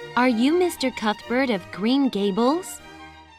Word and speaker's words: Cuthbert: 윗니와 아랫니 사이에 혀를 이렇게 살짝 끼세요. 네, 낀 상태에서 혀는 뒤로 쏙 빼고 발음을 내뿜는 소리라고 보시면 돼요. 자, 제가 한번 보여드릴게요. 딱 이 소리예요. 그래서 Matthew Cuthbert가 되겠죠.